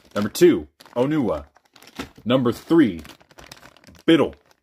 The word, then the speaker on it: Bitil: Number three, Bitil. I know it's supposed to be pronounced Beetle, but like, it's just the word Beetle, but spelt horribly.